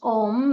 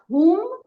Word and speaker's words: Om: And one of the things they shared with me that the word Om, which is not always pronounced Om like we're used to it, often they say it more like whom, but the word Om means love.